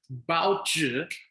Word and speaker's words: 报纸: Okay, the rule here again is the ending I is pronounced with an ER sound, so we pronounce it as 报纸. Okay, good.